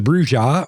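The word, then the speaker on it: Brujah: first uh clan is the bruja or the bruja i think the second pronunciation is probably the correct one but i've heard both and they are kind of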